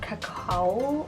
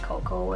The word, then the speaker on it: Cacao: NYX retractable lip liner in the color Cacao. I'm not even sure if I'm saying that wrong. I'm probably saying it wrong, probably like cocoa, and like it's spelled C-A-C-A-O. That was the French side, guys.